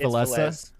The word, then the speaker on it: Villese: player different ways oh it's valessa it's supposed to be pronounced valessas okay well it's okay